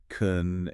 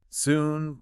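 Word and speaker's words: 寸: So, the first one closest to the wrist crease is kun, but it's pronounced soon. soon. Like I'll see soon.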